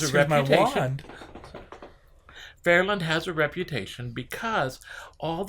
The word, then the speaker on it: Fairyland: I was on a fire truck going down Lookout Mountain towards Fairland. Now, it's called Fairland, but it's spelled Fairland. okay, Fairyland. The y is silent for a It's reason. a silent Y.